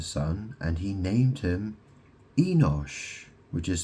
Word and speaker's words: Enosh: So Seth um had a son and he named him Enosh which is spelled E N O S H.